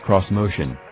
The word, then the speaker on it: Xmotion: a doozy the Nissan's of motion which is pronounced cross motion is a possible vision of the brand's future